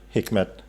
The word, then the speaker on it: Hikmet: Speaking of that, the diversity and things, actually, the Hikmet. Yeah. Am I pronounced correctly?